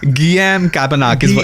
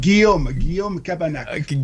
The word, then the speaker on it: Guillaume Cabanac: Guillaume Cabanach. Guillaume Cabanach. Guillaume Cabanach.